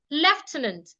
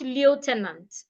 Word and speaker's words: Lieutenant: it's t letters ltis leftenant not Lieutenant leftenant don't say Lieutenant say leftenant now when you have